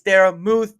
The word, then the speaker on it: Daramouthe: The E is silent. It's Dara Muth, Dara Mouth.